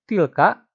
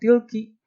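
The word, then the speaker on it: تلك: Meskipun kita bacanya tidak tilki karena tilka itu mabni ya, tidak berubah pada posisi apapun.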